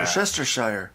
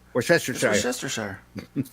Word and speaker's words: Worcestershire: Nobody can still pronounce Worcestershire right anyway. Yeah. Worcestershire. Worcestershire.